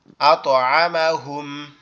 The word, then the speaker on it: أطعمهم: আতআমাহুম। আতআমাহুম। আতো না কিন্তু, আত।